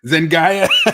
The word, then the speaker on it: Zendaya: Zendaya.